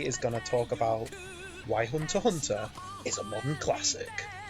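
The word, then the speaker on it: Hunter × Hunter: of the hit show hunter x hunter or apparently it's pronounced hunter hunter yep it's big fun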